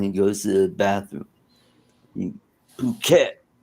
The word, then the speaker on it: Phuket: pronounced it all right it's pronounced puket okay okay that's what happens to cruel cat when he goes to the bathroom. Phuket.